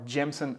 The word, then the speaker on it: Jameson: history on jameson or jensen as we pronounce it here just say everything fast and it sounds like you're in ireland so jameson was founded by john jameson in 1780.